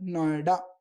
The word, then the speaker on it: NOIDA: अब इनको एक साथ हमने इसको प्रोनाउंस किया तो इसका आया नोएडा।